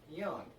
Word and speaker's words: Jung: I said at Greenville Drive, Josh Young's last name is pronounced Young.